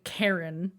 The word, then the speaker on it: Chiron: And then she calls him Karen. Yeah. which I thought was really cute. Like Karen, like Karen. Like it's spelled Chiron when he introduces himself, but when she says his name, she says Karen, Karen.